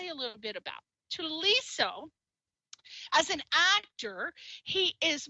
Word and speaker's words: Thuliso: name is he's so it's spelled with an H though but he just told me earlier that the H is silent so it's um I